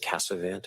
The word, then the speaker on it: Casavant: My last name is Casavant. It's spelled c a s a v a n t.